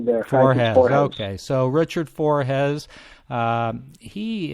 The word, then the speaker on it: Forhez: Richard, is it pronounced Forhez or Forhez? No, you've got it correctly there. Forhez.